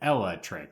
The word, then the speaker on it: Eelektrik: Well, here's the thing, is that it's like electric with another E in front of it. But when you pronounce electric, it's like Eelektrik, right?